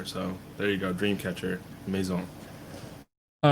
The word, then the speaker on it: Maison: But my first pick will have to be Dreamcatcher Maison. A little French pronunciation for you.